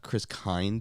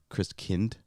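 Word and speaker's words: Christkind: pronunciation of it but it's not Chris kind it's Chris kind-- King Christian because Kindt for German for child Christians is also the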